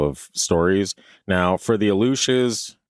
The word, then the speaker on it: Aluxes: Interesting, because when you said it like that, I was thinking the Aleutian Islands. Yeah, that's kind of what I thought too. That's how it's pronounced, but the spelling of it is Aluxes.